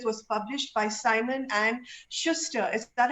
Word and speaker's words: Schuster: Also, his first book, In the Company of Strangers, was published by Simon and Schuster. Is that how you pronounce it, Awais? Yes, absolutely. Schuster, because I was like Schuster or Schuster.